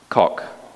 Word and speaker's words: Koch: And the first version of the Equality Act was brought before Congress in 1974 by what do you pronounce his name, Koch or Coach? Koch.